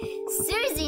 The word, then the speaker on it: Susie: Susie, not Sussy.